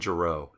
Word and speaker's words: Giroux: Dylan Giroux. Sorry, the X is silent.